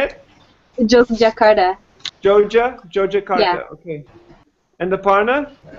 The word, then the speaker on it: Yogyakarta: Yogyakarta.